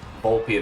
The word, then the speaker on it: Volpe: I believe it is Volpe the way they go about pronouncing his name.